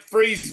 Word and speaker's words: Fries: It's like Freeze, Virginia. It's not pronounced like it's spelled.